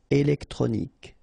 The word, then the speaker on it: électronique: Okay, so as we saw previously, Q-U-E at the end, K. Okay, électronique.